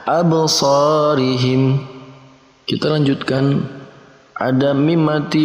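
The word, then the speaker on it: أَبْصَارِهِمْ: Jadi ketika ada 5 huruf qalqalah tadi dan kemudian berharokat sukun, maka wajib dibacanya memantul ataupun qalqalah. Absarihim.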